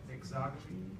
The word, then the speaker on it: exogamy: Exogamy? Yeah, exogamy. That's how that's pronounced.